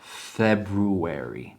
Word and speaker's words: February: Amerykanie February. February. Natomiast w nowoczesnym angielskim wymawiamy tylko drugie R. February Feb.